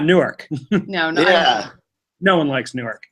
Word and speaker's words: Newark: a hey is Newark Delaware as shitty as Newark New Jersey it's pronounced Newark Delaware but weren't out in Maryland